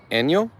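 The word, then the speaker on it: 안녕: I believe it's pronounced, correct me if I'm wrong, Gio, it's pronounced Enyo.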